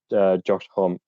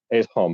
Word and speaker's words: Homme: It's Homme. I've always said Josh Homme. Yeah, I've heard some people say Home, and I'm like, that doesn't sound right.